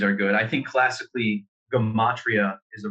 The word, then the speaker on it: gematria: good i think classically gomatria is the right pronunciation but technically it's geometry within language so i like the hard g for geometry essentially gamatria is this